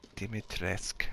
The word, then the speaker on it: Dimitrescu: To defeat Dimitrescu. So she says her... She says it like Dimitrescu, like the U is silent. But I read somewhere that it's Dimitrescu.